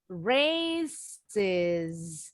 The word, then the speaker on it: races: Nah, races. Races. Jadi S-nya bunyinya is.